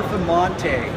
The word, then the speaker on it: Performante: Can pronounce. It's Italian. So Performante.